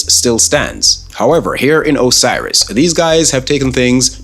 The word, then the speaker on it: Osiris: guys all serious really the game is called Osiris that's how it's pronounced announced and you couldn't